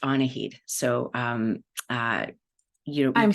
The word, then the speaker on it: Annahid: um I will just say uh it's actually pronounced aned so um uh you I'm so sorry about